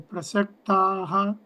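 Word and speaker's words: प्रसक्ताः: If visarga is followed by kakara, either ka and khakara, then visarga should be pronounced like KH.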